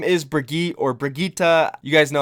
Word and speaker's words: Brigitte: all the time here I think it is Brigitta because that's what I heard Jeff say in the developer update so we're gonna go